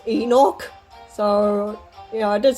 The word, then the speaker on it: Enoch: or the according to the cuttle corner it's pronounced Enoch so yeah I did say I knocked before but yeah I'm going forward saying Enoch so yeah anyway the perhaps the sign oh